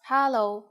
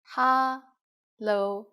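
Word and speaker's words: 哈囉: the most common informal greeting is hallo ha lo just as you can guess hello is just hello with the cantonese pronunciation we use it when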